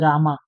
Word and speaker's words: राम: In English में भी अगर उसको पढ़ोगे तो तुम रामा नहीं पढ़ोगे, उसको राम पढ़ोगे. But because of the English translations और द इंग्लिश प्रोनाउंसिएशंस जो हमने सीखी है बचपन से, वो राम की जगह रामा हो जाता है.